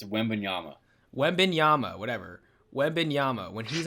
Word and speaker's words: Wembanyama: how you pronounce his name how do you pronounce it it's wembanyama webinyama whatever webinyama when he's on your team